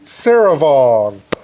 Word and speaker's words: Souravong: We have Souravong.